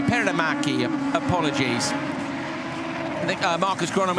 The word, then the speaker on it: Perämäki: Joker has gone Tinka Perämäki, sorry, I keep adding an extra K. Perämäki, apologies.